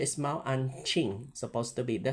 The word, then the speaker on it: Mao Anqing: Mao an uh the correct pronunciation is Mao anqing supposed to be the spelling is a n q i n g ma an king.